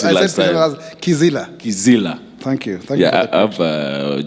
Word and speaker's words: Kizila: Si ofisi Priscilla, like you pronounced it last time. Kizila.